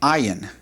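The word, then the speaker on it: עין: Right below the Samic is what's called an ayin. Ayin. And the ayin is like the aleph in that it does not have a definite sound when we pronounce it.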